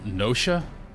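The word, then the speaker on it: Noscea: That's pronounced Nosha. Oh, we said Noska.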